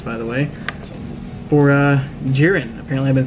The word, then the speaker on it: Jiren: the way for uh jiren apparently I've been saying it wrong this entire time so what are you even saying GYN it has an I but it's actually pronounced with a e so and this was